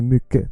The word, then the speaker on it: mycket: When you see the word mycket, which means a lot, much, don't say mycket. Just say mycket. Take away the T.